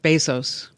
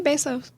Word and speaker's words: Bezos: minute how do you say it Jeff what Bezos thought it was Bezos it's not Bezos I say basos Bezos yes it's Bezos all right you know who uh who corrected me on that who Jeff Bezos I oh well he would know he was